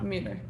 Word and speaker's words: Müller: The poetry is by Müller. Is that correct? Yeah. Müller.